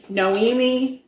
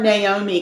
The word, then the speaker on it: Noemi: So her name was Noemi Ramon. Okay. I want to call her Naomi constantly because it's almost spelled like that, but it's not.